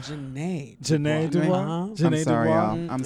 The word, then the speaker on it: Jeanette: I think it's pronounced Janae.